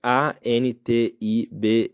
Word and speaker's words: Antibes: se chama antib antib você escreve a n t i b e s antibes um português pronunci um brasileiro pronunciaria português também mas se pronuncia antib eu demorei muito tempo